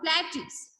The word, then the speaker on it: plateau: So now we are going to study about plateaus. Plateau. So this word P-L-A-T-E-A-U-S is pronounced as plateau.